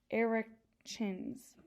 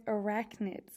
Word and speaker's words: arachnids: spiders belong to a group of animals called eric chins i'm sorry that is arachnids i'm sorry about the mispronunciation but so now i have to look